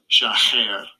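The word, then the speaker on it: שָׁחַר: Let's get the pronunciation. Strong's H 7835. Shacher.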